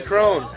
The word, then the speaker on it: Crone: get yelled though Penny crone Crone because her last name rhymes with bones and I'm into mature